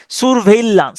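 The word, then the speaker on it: surveillance: আন্ডারে আনা হয় সারভন্স স্যার ভেইলান্স স্যার এস ইউ আর এটা আপনি নিজের সুবিধার জন্য সুরও উচ্চারণ করতে পারেন সুর সুর ভেইলান্স সুর ভেইলান্স এস ইউ আর সুর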